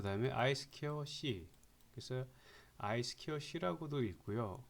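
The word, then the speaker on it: I²C: 자, 이것은 우리가 읽을 때는 보통 사회에서 두 가지라고 읽어요. 하나는 한글로 쓰겠습니다. 그냥 이 2가 스퀘어라는 의미죠. 그죠? 스퀘어 그 다음에 I 스퀘어 C.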